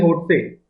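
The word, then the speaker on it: Lhotse: सातवे नंबर का आपका एल होटसे होट ही बोलते होंगे उसको एल साइलेंट होगा ठीक है छठे नंबर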